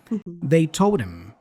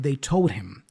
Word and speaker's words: told him: Yeah, we have they told him. So the him there is pronounced as an M. So the H is dropped.